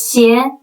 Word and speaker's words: 邪: That's because the word of shoes, 鞋, is pronounced the same way as 邪, evil, which carries sinister or cursed vibe.